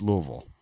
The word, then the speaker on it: Louisville: know that Louisville has like 6 to 8 pronunciations. Louisville, there's all people call it all different kinds of stuff, but it's Louisville.